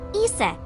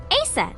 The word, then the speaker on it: Isis: horse's mom is named isis but in ancient egyptian it's pronounced closer to isa or asa hmm how do